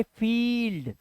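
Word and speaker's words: field: देखो आई का उच्चारण जब किसी वर्ड में आई ई आए तो आई ई को ई पढ़ना है क्या पढ़ना है अब ई आवाज आएगी देखो वर्ड में आईई आया हुआ है जैसे देखो आई आया वर्ड में इसे क्या पढ़ेंगे इसे पढ़ेंगे फील्ड अब इसे फील्ड मत पढ़ना अब ये इ नहीं है इ ये ई है तो फील्ड सीज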